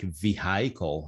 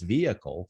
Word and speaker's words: vehicle: and my pronunciation would be like vehicle. I don't know why. It sounds great saying vehicle, but the correct pronunciation is vehicle.